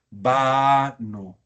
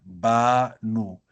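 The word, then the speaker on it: בָּנוּ: En vez del cr utilizaremos el kames rahav. Banu. Muchachos, y esto es absolutamente esencial. Banu. Si el acento lo ponemos al final, eso es un verbo. Entonces aquí hay que saberlo decir siempre.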